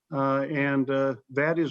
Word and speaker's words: Fateh: FATEH THAT'S HOW YOU PREFER YOUR NAME TO BE PRONOUNCED CORRECT. SEN. FATEH THAT WORKS.